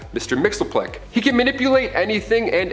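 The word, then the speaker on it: Mxyzptlk: Fifth Dimension close enough his real name doesn't even translate into Earth's languages but we collectively pronounce it as Mr Mixel he can manipulate anything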